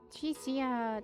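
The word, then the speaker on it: Chisa: Chisia, that's how you say her name again.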